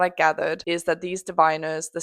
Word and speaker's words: Diviners: I know that now, it is diviners.